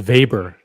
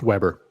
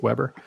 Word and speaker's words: Weber: pronounces it vber it's Weber yeah I've never yeah in the continental United States it's Weber we've got Thomas Bernett